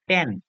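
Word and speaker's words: tan: হচ্ছে কস বলে জানবো টানজেন্ট এটাকে সংক্ষেপে লিখা হয় বা অংক করার সময় আমরা লিখবো টান এটাকে আমরা উচ্চারণ করবো টান আচ্ছা এরপরে কোটানজেন্ট কে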